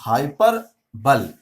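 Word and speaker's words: hyperbole: अगर थोड़ा सा इंग्लिश थोड़ी सी तोड़ के पढ़ेंगे इसको, अगर हम लोग इंग्लिश को थोड़ा सा इस वर्ड स्पेलिंग को थोड़ा तोड़ के पढ़े तो हाइपर बोले ऐसे पढ़ सकते हो।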